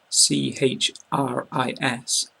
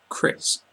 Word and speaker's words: Chris: another example my name c h r i s we pronounce it Chris Chris so for the single I in these examples you want to make this kind of sound I I Chris bit chip so cheap